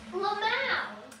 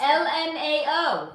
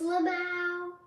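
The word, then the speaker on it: LMAO: I'm announce it as if it was a word.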